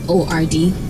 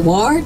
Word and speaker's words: Word: friendship in French and my last name is word wo Rd yeah so people like use a ward but so it is word many people have been